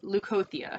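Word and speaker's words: Leucothea: to pronounce this i want to say it's leukothia um and this seems to be spot on leukothia yes so lukothia is your deity energy and she is part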